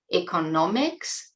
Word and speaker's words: economics: Notice the difference in pronunciation (word stress): economics and economist.